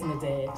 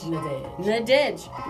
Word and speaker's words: Nadej: It's Nadej, like the word edge. Nadej.